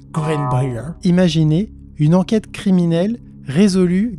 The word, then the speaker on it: Greenbrier: cas du fantôme de Green Breer ouais bon j'ai fait le choix de prononcer à la française m'en voulaz pas mais sinon je pense que c'est plus greenber imaginez une enquête criminelle